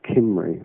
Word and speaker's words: Cymry: Well, it's the sound is with a sharp K as a K, but it's actually written with a C, a soft C, if you like, Cymry. Okay. But the K is pronounced with a hard K, if you like, as Cymry.